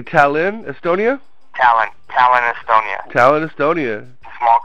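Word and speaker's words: Tallinn: in uh how do you say talin Estonia Talon Talon Estonia Talon Estonia small country uh you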